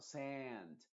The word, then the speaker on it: sand: vocal en español, porque nosotros diríamos simplemente sand, bath, chat, flat. Pero no, la del inglés, como te digo, tienes que pensar como si fueras un cordero, por así decirlo, una oveja. Es como que está en la parte de adelante, como en la parte de adelante, no en la parte de oh, no en la parte de atrás, sino sand.